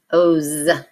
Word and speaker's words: hose: have the O's family spelled with an S but we're voicing that s so it's hose and you're going to